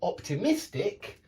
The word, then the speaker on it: optimistic: but Optimist pessimist however the adjective optimistic does have the stress on the Mist optimistic it's not optimistic it's optimistic pessimistic so the adjective has a stress here and the noun has the stress on the first syllable now whenever you see